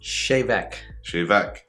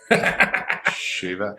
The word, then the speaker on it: Tè Bheag: good it's really good how do you pronounce that again chevek you had it what do you think drop a message in the comments let us know could you have pronounced it shiva i couldn't have i